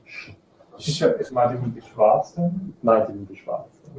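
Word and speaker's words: Švarc: quite fluent German now, but I cannot pronounce German mathematicians' names correctly because I did my PhD in the US. Right? I got so brain damage. I have never recovered from the inability to pronounce the German names correctly from there. So, okay, so Schwarz is what we say.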